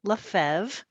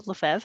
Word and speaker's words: LeFevre: are sure hi uh my name is LeFevre there's some silent letters in there oh no no but it's uh it's manageable LeFevre I live here in